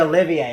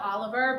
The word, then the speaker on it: Olivier: The Olivier Awards. Yeah, Thank it's spelled Oliver, but it's Olivier.